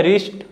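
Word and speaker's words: wrist: है रिस्ट rake रंग तो आप देख सकते हो जब मैं इन सभी वर्ड्स को मैंने पढ़ा तो मैंने डब्लू को नहीं बोला देखिए जो डब्लू होता है ना यह कौन सा साउंड बनाता है व लेकिन जब मैंने इन वर्ड्स को पढ़ा तो मैंने डायरेक्टली र से पढ़ा ठीक है र जो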